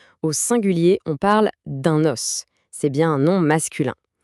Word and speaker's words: os: Au singulier, on parle d'un os. C'est bien un nom masculin. Écoutez attentivement. Le s à la fin se prononce os.